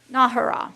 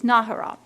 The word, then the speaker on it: Nahara: Civic Events Advisory Board, Billy Nahara, I always mispronounce that, sorry. Nahara, that's how it is, Nahara.